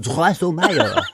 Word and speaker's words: Drosselmeyer: But it's actually pronounced Drosselmeyer. Okay.